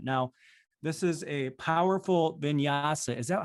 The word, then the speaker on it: vinyasa: incredible incredible environment now this is a powerful vinyasa is that how you pronounce it katie yes vinyasa yoga meditation studio they've got a 365 program